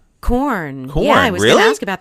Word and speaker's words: Quorn: I think it's going to be said Curon, Quorn. Corn. Yeah, I was going to ask about those. I think it's pronounced corn.